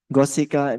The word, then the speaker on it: Gosika: Goseka Sala tree forest. Pronunciasinya Gosika.